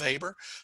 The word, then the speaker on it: Weber: here just know that max weber and it's pronounced weber talked about the protestant